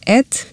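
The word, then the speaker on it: את: This word that in modern Hebrew is pronounced et does not have a translation into any language.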